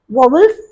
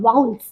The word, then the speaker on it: vowel: यहाँ पर मैंने वोवल्स, जिन्हें हम कहते हैं वाउल्स, वोवल बिल्कुल भी गलत प्रोनाउंसिएशन है। The correct pronunciation is वाउल।